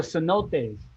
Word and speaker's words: cenotes: heck of a lot of fun oh the cenotes yeah did you ever visit a cenote i